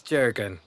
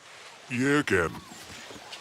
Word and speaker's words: Jürgen: Like someone who has, like, maybe big muscles, who is, It's Jurgen. Isn't it, Jurgen? Don't be so ridiculous, Jeffrey. It's actually Jürgen, with a silent J.